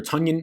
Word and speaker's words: Tonyan: tonyan coming out here a tonion whatever you want to say a couple people telling me that that's pronounced tanyan tony down it's been pronounced for two years who cares honestly in